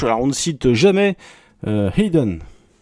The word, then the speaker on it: Hidden: Alors, on ne cite jamais Hayden, je le prononce comme ça parce que c'est comme ça qu'il le prononce Jack Scholder.